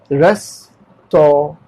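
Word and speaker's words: restaurant: नाउ ये aunt नहीं है, रेस्टोरेंट, ठीक है। नाउ रेस्टोरेंट, रेस्टोरेंट, रेस्टोरेंट, एन का वर्ड में ऑन्ट, रेस्टोरेंट, ठीक है। Restore, restore, रेस्टोरेंट, रेस्टोरेंट। This रेस्टोरेंट, this रेस्टोरेंट is very costly. तो हम लोग क्या कर रहे हैं, रेस्टोरेंट, ए में डबल ए लगाया ताकि वो स्ट्रेच हो सके, रेस्टोरेंट, दिस रेस्टोरेंट इज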